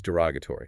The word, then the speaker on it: derogatory: The second one is derogatory and the spelling is d e r o g. T o r y. Yeah. Stress is on the r o g.